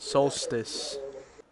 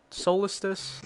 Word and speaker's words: solstice: During the winter that's how you spell it. Solstice. Have I been saying solostice, even though it's solstice?